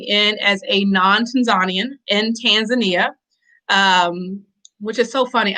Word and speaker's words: Tanzania: of the country's name but it's tanzania i don't know where these other pronunciations came from and i do understand that even some tanzanians will you know change it to be polite but it's definitely tanzania but i digress that's